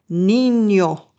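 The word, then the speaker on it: niño: The n is pronounced like a combination of n and y like in the word canyon in English. It's a n sound. Listen to it in the example words. Nino espanol sw.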